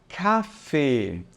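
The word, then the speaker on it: Kaffee: gente pronuncia assim olha café tá café ele um pouquinho longo tá café só que perceba que a tônica recai sobre o primeiro a então eu não vou dizer café eu vou dizer café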